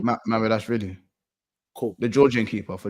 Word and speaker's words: Mamedashvili: Mamedashvili.